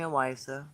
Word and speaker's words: Owyssa: So you can call me Awisa. That's okay. And it's spelled Owyssa.